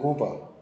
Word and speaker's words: Guba: he was the student of the Lincoln and Cuba, and so Lincoln and Cuba's the best student. Can you spell that for me, please, sir? Pardon me. Something in Google. Lincoln and Cuba. Aguba.